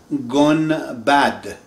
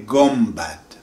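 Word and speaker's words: گنبد: This is written Sonbul, but in Persian, whenever N comes in front of the B, N pronounced as M. Example, Sonbul, they say Sonbul. Gun bad.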